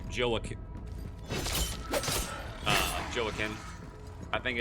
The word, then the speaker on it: Joaquin: Joaquin. Joaquin Phoenix is like Joaquin.